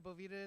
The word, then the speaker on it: Bovita: It is Bovita, but hey, everyone says Bovita, or it's a bunch of different things.